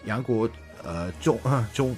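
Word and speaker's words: 杨国忠: Yeah, that's why Yang Guozhong.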